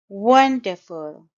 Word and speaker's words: wonderful: was absolutely terrific wonderful wonderful it's a three syllable word and the stress is on the first syllable wonderful and no note that the last sound is sure sound you don't say full full wonderful we had a wonderful